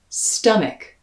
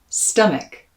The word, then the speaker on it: stomach: say stuff sta and that second syllable even though it's an a spelling is going to be pronounced with an e the same vowel sound